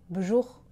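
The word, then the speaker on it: b'jour: Et écoutez bien, Assane Diop fait une contraction. Bonjour. Vous entendez? Il prononce bjour, bjour, et c'est bien sûr plus informel, plus familier.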